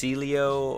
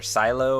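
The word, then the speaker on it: Sileo: tweaks from a store I believe it's pronounced sealeo or our silo or something like that from the Elektra team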